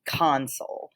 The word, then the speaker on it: console: electrical or mechanical device you're going to put the emphasis on the first half of the word and you're going to pronounce it console so you have console